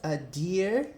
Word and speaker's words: adhere: É ainda mais sutil, né? Você acaba nem pronunciando o D.